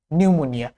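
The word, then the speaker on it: pneumonia: Silent P, বৈজ্ঞানিক কিছু নামের শুরুতে, যেমন সাইকোলজি, নিউমোনিয়া, বৈজ্ঞানিক বেশিরভাগ নামের সাথেই পিতে সাইলেন্ট থাকে।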